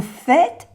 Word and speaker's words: faites: Qu'est-ce que vous faites? Qu'est-ce que vous faites? Qu'est-ce qu'il dit? Qu'est-ce qu'il dit? Vous faites quoi? Vous faites quoi? Vous faites quoi? Faites, no se pronuncia la E y la S.